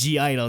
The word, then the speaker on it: (G)I-DLE: Moving on after that, we had G-Idle, and they confirmed the pronunciation was G-Idle. They said G-Idle. Yes, they did. They said the G.